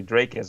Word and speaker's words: Dricus: it's probably more than the amount of people that say Dracus, which is like the way it should be pronounced.